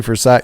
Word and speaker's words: Versailles: is it actually versailles it's actually for psych you ain't heard like uh i've heard like radio shows in the morning or something and they'll say for a side kentucky that's how they say it yeah yeah or just